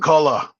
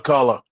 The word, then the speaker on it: McCullough: How do you pronounce the name? McCullough. Russ Acola. McCullough.